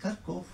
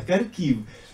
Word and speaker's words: Kharkiv: Non, à Kharkov. En ukrainien, c'est prononcé à Kharkiv.